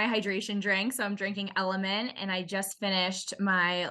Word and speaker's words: LMNT: first thing and then element for hydration what is element is that like a type of water it's spelled lmnt and it's a powder drink